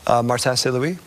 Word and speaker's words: Martin Saint-Louis: Martin Saint-Louis.